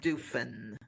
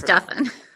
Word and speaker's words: Duffin: sounds like muffin right it's pronounced like muffin and Duffin is